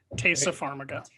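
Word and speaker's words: Taissa Farmiga: know dexter um and i'm not going to pronounce her name right uh tysa farmiga tasa pharmaca thanks taylor you're always here to correct my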